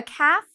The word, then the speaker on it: calf: So a calf is a baby cow. For this word, calf, you do not need to pronounce the L. It is silent.